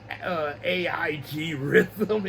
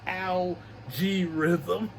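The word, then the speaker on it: Al G. Rhythm: Every time I read his name in the novel, I kept saying AIG Rhythm. It's Algae Rhythm.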